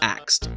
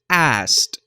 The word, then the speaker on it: asked: Anyone who grew up in the ghetto says axed, but the way to pronounce it is asked.